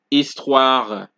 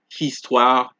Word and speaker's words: histoire: We don't pronounce it homme. We don't say histoire, hôpital. It is homme, histoire, hôpital, habitude, homme, histoire, hôpital, habitude. So if you guys notice, the songs are usually pronounced start from the vowel, because the sound of the H is deleted.